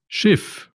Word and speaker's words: Schiff: SCH se pronuncia como una S silbante. Shif, Schiff, shif.